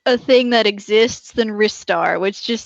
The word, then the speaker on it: Ristar: Ristar sounds weird to me. It's like the star of rice. It sounds more like a thing that exists than Ristar, which just sounds like a wrist something.